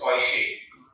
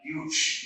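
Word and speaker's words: Deutsch: This is pronounced as Koishe. This is, some would speak huge, but it's actually not pronounced huge.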